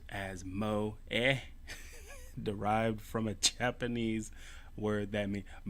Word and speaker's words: moe: Alright, coined in Japan in the late 90s, moe, pronounced as moe, derived from a Japanese word that means it's derived from a Japanese word that means budding, to sprout, or to bloom.